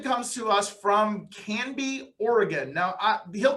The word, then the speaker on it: Oregon: be here and you nailed it you said oregon not oregon or all the other creative ways i hear people pronounce it you hit it right on you